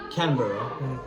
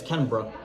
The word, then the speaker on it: Canberra: the cities correctly, like Canberra, as a non-Australian or Aussie, as they call it, would say. Yeah. Well, and a real Aussie would pronounce it as Canberra, Yeah. like bruh, not Berra, bruh.